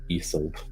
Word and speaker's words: Isolt: Isolt, yeah, just like you said it. That's how it's pronounced. So the Irish pronunciation and the character it's probably based on is this, Isolt, like that.